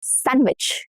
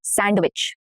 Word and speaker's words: sandwich: Sandwich, not sandwich. Sandwich, no duh.